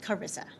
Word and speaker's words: Charissa: chairman for the record my name is pronounced Carissa Carissa H is a little tricky okay um yes so